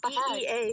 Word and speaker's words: Bea: I know, B-E-A, she pronounces it Bea.